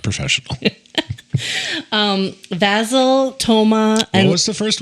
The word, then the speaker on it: Vasil: half there it is again not professional um vasil Toma what was the first one vasil v